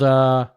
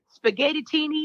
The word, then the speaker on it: Spaghettini: And you've got a regular gig there at a place called Spaghettini. I was gonna mispronounce it. I'm glad you said it. No, I know, because I did that because everybody they'd be like spaghetti-tini.